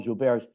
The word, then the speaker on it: Gilbert: or bear syndrome um it's spelled like Gilbert but the guy was French so we'll spot him on that and call jar which is a common